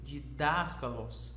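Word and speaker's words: διδάσκαλος: didáskalos palavra de daskalos tem um acento nesse primeiro Alfa E então você deve ler de daskalos não didáskalos não didáskalos mas didáskalos e e e dá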